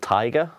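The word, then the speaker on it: Tygar: my favorite fragrance is called Tiger but it's spelled t y g a r nonsense nonsense that's a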